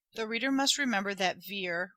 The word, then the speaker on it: Vere: reader must remember that veer retaining its french sound is pronounced somewhat like the word bear and the last syllable